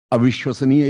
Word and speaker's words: अविश्वसनीय: उसको हिज्जे को कहते हैं थोड़ा अलग अलग करके, जैसे अ बोला आपने, अ, फिर वि बोला विश्वस। आपने, फिर श्व बोला आपने, फिर नी बोला आपने, फिर य बोला आपने।